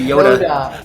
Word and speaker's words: Yota: pronounce the T in Yota I did that last time in in Toronto we we we turn our T's into D's so I say Yoda Yoda I've heard both